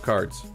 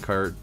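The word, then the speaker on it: Karrde: Wars he loves uh Talon card cared I think is how you pronounce it is it card or cared I've always heard it cared hey otter hey I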